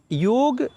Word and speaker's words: योग: लिए एक लाइन में, जब भी आपको योग बोलना है तो आपको योग ही कहने हैं, बट अगर इंग्लिश में लिखते हैं तो आपको पूरा प्रोनाउंसिएशन को नहीं बिगाड़ने हैं, वही वो जी ये ही लिखना चाहिए। जब आप उसको प्रोनाउंसिएशन के लिए जाएंगे, पढ़ेंगे, तब आप उसे योग ही कहेंगे। तो जितने भी हमारे योग के आचार्य हैं, योग के फॉलोअर हैं, वो कभी भी योगा नहीं बोलेंगे, भले ही वो इंग्लिश